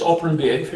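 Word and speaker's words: operant behavior: You also talk about operand behavior. And what does it really mean if you talk about operand behavior, if I pronounce it correctly? Yeah, it's operand behavior, yeah, Yes. perfectly pronounced.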